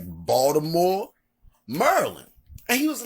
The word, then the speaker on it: Maryland: say Baltimore Maryland Not Baltimore Maryland but Baltimore Merlin and I mean people that's all over the country they say it right they say Baltimore Maryland to give you an example when I was